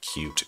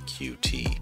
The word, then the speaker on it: Qt: today we're looking at cute creator yes it's pronounced cute not qt and as you can